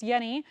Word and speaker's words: Jenny: there's a j because it's spelled like Jenny but they say the last name is pronounced Yenni um so that's what